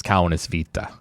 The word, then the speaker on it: Kaunisviita: Yeah, the the correct pronunciation is Kanis Vita.